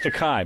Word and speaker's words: Takei: george decay is uh it's takai but no it's taken is it rhymes with okay he'll explain to you